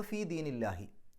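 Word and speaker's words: في دين الله: ആ ദീനു എന്നുള്ളതിൻ്റെ മുമ്പിൽ ഫീ വരുമ്പോൾ ഫീ ദീനി എന്നാവും. അപ്പോൾ ഫീ ദീനില്ലാഹി, അവിടെ ഉച്ചാരണം അള്ളാഹു എന്നുള്ളതിന് പകരം ഇല്ലാഹി എന്നുള്ള രൂപത്തിലേക്ക് മാറും, ഫീ ദീനില്ലാഹി.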